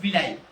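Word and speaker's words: villi: मतलब एक स्ट्रक्चर होता है उसको बोलते हैं विलाई क्या विलाई स्पेलिंग है वी I double L आई क्या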